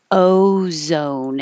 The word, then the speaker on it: ozone: spell this but ozone it uses the American o so it's not just ozone with o but your tongue is but not your tongue your um you're moving your lips are starting unrounded oh and ended with an ooh o i put it here like home so O Zone rearing